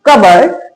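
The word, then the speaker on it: cupboard: पी के बाद यहां बी आ रहा है तो पी साइलेंट है।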